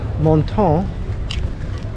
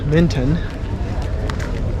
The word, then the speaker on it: Menton: We are now in Menton, which we would pronounce Minton.